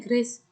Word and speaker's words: Gracia: Tulisannya Gracia, bacanya Grace.